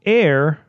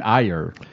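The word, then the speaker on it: Aer: It's called Air: Memories of Old. And air is spelled A-E-R. You mean ire?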